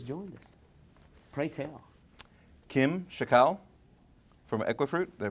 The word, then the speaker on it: Chackal: Kim Chackal from Equifruit. Did I pronounce it right?